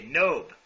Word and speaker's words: Knobe: It's actually Knobe, so any letter that could be silent is pronounced silently. Okay, Knobe.